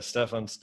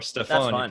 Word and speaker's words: Stephan: your name slightly incorrectly I say Stefan it's more Stefan but all right that's it that's fine I'm used to either either that's fine yeah I used the wrong syllable sir so so Stefan